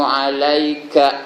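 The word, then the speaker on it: عليك: Assalamu alayka ayyuhan nabi. Ka tu jangan panjang kan?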